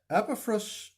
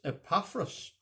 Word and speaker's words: Epaphras: When I first read the name in the Bible, I thought that it was Epaphras. But then I heard Albert McShane from Lurgan pronouncing it as Epaphras. I thought that sounded really peculiar, but if you have a Bible that shows you how to pronounce names, you'll find out that Mr. McShane was right, and that'll hardly come as a surprise.